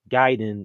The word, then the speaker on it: Gaiden: I'm just very shocked how people are still saying ninja giden as gayen it's just it seems